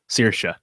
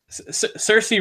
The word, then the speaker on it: Saoirse: She did this in her SNL monologue. It's like inertia. Saoirse. Very easy. Saoirse Ronan. She. That was Leslie Jones. I know. That was a joke. Call back. Saoirse Ronan.